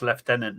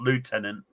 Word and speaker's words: lieutenant: it colonel left leftenant we pronounced leftenant not Lieutenant leftenant actually God look at